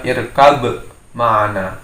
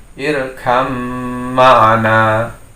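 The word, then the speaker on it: ارْكَب مَعَنَا: Harusnya terbaca irkab ma'ana, tapi itu salah dalam pembacaan hukum idgham mutajanisain. Karena menjadi hukum idgham maka ba masuk dalam mim sehingga bacanya irkam ma'ana.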